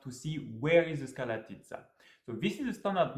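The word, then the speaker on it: Škrlatica: One of the first problems you may have with this hike is to pronounce the name correctly. Skralatica. Skralatica. It took me about 2 weeks and the help of the retired Slovenian ski jumping athlete to pronounce it correctly.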